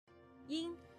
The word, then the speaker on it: ying: Ying. It sounds like ing in ring, but make sure you don't overpronounce the ng part at the end. Also, please be aware that people from the northern part of China may pronounce ing in a very nasal way.